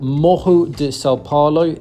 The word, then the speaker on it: Morro de São Paulo: Now, this island is called Mo de Salaro. It's spelled like Mororrow de Salo, but the double R is pronounced H in Brazilian Portuguese.